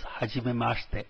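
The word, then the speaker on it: はじめまして: Please note the second I which comes towards the end is silent, mashite, not mashite, and the T at the end of the is pronounced as if it is TH.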